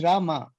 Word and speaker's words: Rama: No, is the pronunciation Ram or Rama? Is it it's Krishna Rama? Or Krishna? It's Rama. R-A-M-A. Yeah, so in Sanskrit, that's what, there was a Sanskrit scholar who said it is Rama, Krishna.